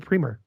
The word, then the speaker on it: Priemer: say hi to Priemer. Did I say it right? You got it. Yeah, absolutely. You know, being Canadian, people want to Frenchify it for some reason.